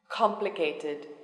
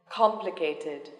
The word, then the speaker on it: complicated: then three syllables yes the stress is on the first syllable dictionary dictionary complicated complicated elevator elevator ordinary ordinary